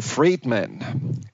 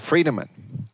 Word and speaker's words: Friedemann: me so well had butchered my name often to Friedemann instead of Friedemann, and Friedemann means man of peace and not free man, I really haven't thought so much about freedom before she asked me that.